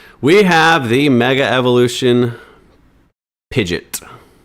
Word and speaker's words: Pidgeot: We have the Mega Evolution Pidgeot. I'm going to say Pidgeot, not Pidgeot, because it's spelled like pigeon with a T.